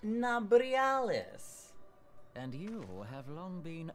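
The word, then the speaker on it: Nabriales: Think, give me the pronunciation immediately. I am Nabrialis. Nabrialis.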